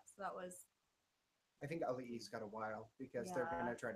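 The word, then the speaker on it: Auliʻi: Ali.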